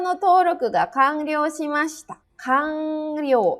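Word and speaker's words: 完了: Kanryou. Ini kanji selesainya dibacanya kang karena bertemu dengan kanji lagi ya, kanryou.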